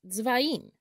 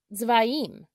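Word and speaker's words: צבעים: The Hebrew word for colors is tzvaim, tzvaim. In Hebrew, the color red is pronounced adom, adom.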